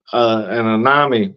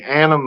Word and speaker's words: anime: Babylon, or just say, an Anami studio come out. Excuse me, y'all don't unfollow me. Anime, excuse me, anime. See, we're fucking up left and right tonight.